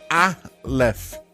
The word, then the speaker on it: Aleph: Christian Aleph, disclaimer no começo, a pronúncia é Aleph, tá.